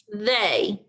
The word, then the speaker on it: they: it should be but the e and the y are the tricky parts of that word you would probably expect these letters to be pronounced as e and y but they are pronounced a and e so when you read they remember to pronounce the letters e and y as the long a and when you write